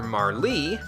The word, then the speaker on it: Marle: The way that that is spelled implies that her name is Marl. That sounds really weird coming out of my mouth. I very much prefer Marlee, but that's not how you spell Marlee. So we're going to name